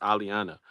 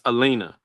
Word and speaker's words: Elenia: name up I'm sorry it just looks like it's supposed to be pronounced Aliana but it's Alena how are you doing